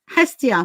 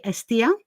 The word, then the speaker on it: Hestia: Anyway, so Hestia for you, I think with the English pronunciation. In Greek, we say Estia.